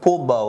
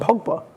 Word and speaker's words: Pogba: Pogba was doing it when they won the French World Cup. So the World Cup, when France won the World Cup. So even Pogba was doing it.